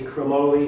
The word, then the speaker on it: chromoly: Now, been a lot of debate on how you pronounce it, but I've watched the Mizuno videos. It's definitely chromoly is the pronunciation.